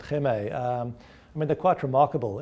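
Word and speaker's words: Hema: They've got these stores, H-E-M-A, I think you pronounce it Heme.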